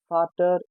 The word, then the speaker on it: Vater: We call father as Vater in German language.